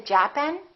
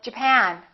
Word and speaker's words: Japan: at the next one did you say japen or Japan in this case it's the second syllable I'm from Japan I'm